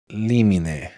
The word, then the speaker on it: limine: They pronounce it limine. It's limine, right? I think that if the law is going to use Latin, they should pronounce Latin, but doesn't matter.